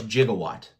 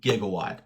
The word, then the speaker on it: Jigawatt: Dude's name is Jigawatt, not Gigawatt. I know a lot of people have been pronouncing it gigawatt.